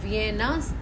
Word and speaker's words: Vienne: और इससे अब वियना जो ऑस्ट्रिया में है उससे कंफ्यूज मत होइए, वो एक अलग जगह है, ये वियन है। Pronounce generally the same way किया जाता है एज वियना।